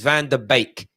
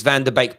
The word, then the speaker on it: Van de Beek: has confirmed it's pronounced bake is in bake off like baker cake it's van der beek please stop saying van der beek like the dutch have